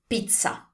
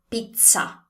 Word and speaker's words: pizza: over the world, it's pizza. So the correct way to pronounce this word in Italian is, first of all, to say the Z sound correctly. The Z sound in Italian is a TS sound, like the one you find in bats.